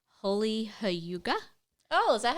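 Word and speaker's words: hygge: I've been reading this book uh called holy hauga oh is that how you say it Huga I think so it's not Hai it says right here Huga yeah she's got the pronunciation on the book book Huga but h y g g e for people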